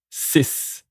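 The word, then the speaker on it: six: 6, 6, which is pronounced like sis.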